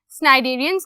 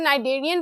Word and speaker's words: Cnidarian: Today, जो कि है स्नाइडेरियंस की। सी को आप साइलेंट भी कर सकते हो, नाइडेरियन, बट अलग एक्सेंट्स होते हैं, so that's up टू यू।